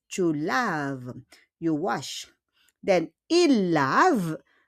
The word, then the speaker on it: laves: O S yan, pero on prononce pas le S. Tu laves.